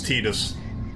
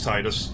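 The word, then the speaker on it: Tidus: to change like Titus the guy who voiced Titus is like it's tedious but I'm like nope it's Titus maybe I shouldn't have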